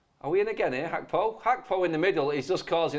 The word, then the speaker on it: Gakpo: Oh, Hakpo is how you pronounce his name, everybody. You know what? It says Gakpo, but it is Hakpo.